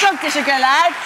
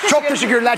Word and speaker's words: Çok teşekkürler: Çok teşekkürler. Çok teşekkürler. Çok teşekkürler.